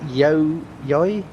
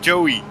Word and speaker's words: Joey: Hello, is it Yoi? Yeah, hello. Yeah. Hello. It's pronounced Joey. Joey.